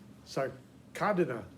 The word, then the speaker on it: Sarcodina: The sarcodines, the sarcodina, see, sarcodina is how it should be pronounced, but that's a really hard thing to wrap your tongue around, so sometimes it doesn't get applied.